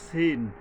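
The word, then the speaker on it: س: তবে কি এইটা শক্তভাবে ফাং ফাং সব কিছুটাযেশ শব্দ আসতেছে এবং অক্ষরটা যে সদ আর সিন একটু ডিফারেন্স একই জায়গা থেকে উচ্চারিত হয় কিন্তু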